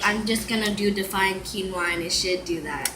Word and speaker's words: quinoa: and women and um and of course you pronounce it wrong and are met with pitch patronizes quinoa giggle whoa it's actually quinoa where is the speaker on here's one say